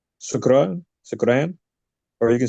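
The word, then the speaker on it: شكرا: There's shukran. You can say that, or you can say shukriya, which is also like Urdu for thank you. So you can say shukran, or you can say shukriya.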